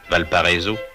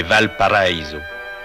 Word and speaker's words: Valparaíso: Ce que l'on prononce affreusement à la française Valpariso, c'est Val Paraiso, la vallée paradis.